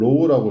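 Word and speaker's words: ρ: 이걸 로우라고 읽어요.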